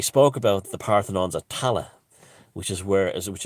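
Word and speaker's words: Tallaght: in ireland and they were all buried in tala and which was mispronounced by the earth the the americans as talacht because it's spelled t-a-l-l-a-g-h-t and irish and i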